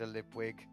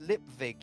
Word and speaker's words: Lipwig: up we get Mr lipwig it's pronounced lip Vig you he moaned a v not a w r v get Mr